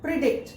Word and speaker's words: predict: The stress goes with the second syllable. Predict. If it is on first syllable, predict. Okay? It is sec- As it is on the second syllable, pre-dict dict is stressed more.